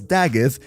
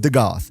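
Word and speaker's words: Dagath: And tell me, who of you actually knew that the way to pronounce Dagith is Dagith and not the Goth?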